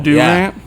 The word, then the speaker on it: Durant: say it right or don't say it all Durant yeah Durant oh rant you